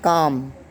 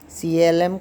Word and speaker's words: calm: Calm. CALM. Calm. L is again silent here.